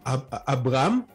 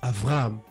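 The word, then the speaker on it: אַבְרָהָם: Le V qui est là, c'est un B qui se prononce V. Comme Abraham, ils ne disent pas Abraham, ils disent Avraham.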